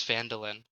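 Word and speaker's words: Phandalin: um guys guess what I learned how to pronounce it it's Falin I was right um um it's you were on the trail to Falin um uh going across the trior trail in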